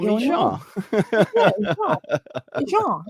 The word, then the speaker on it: Jean: Jean. It's not that hard to say. No, once you can pronounce it, and it's always with French.